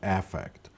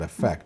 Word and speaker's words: affect: and psychologically it should it should be pronounced affect not effect because effect is a verb an affect is a noun so when we talk